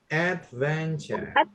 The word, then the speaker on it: adventure: And then the next one adventure. Adventure. Adventure. Nah, tulisan tour ya itu ture itu bacanya ch ya guys.